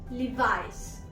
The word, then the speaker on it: Levi's: The first word is Levi's. Levi's. Not Levis. Levi's.